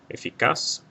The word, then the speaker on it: eficaz: Eficaz will not have a written accent mark because the stress is on the last syllable and it ends in something other than a vowel N or S.